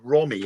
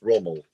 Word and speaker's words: Rommel: it when you said Rommie earlier on. That's Rommel.